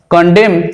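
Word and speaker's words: condemn: এরপর যেমন ধরো কন্ডেম, কন্ডেম বলি আমরা, অর্থাৎ কাউকে বিরোধিতা করা বা প্রতিবাদ করা, কন্ডেম কিন্তু এনটা থাকবে, উচ্চারণ হবে না।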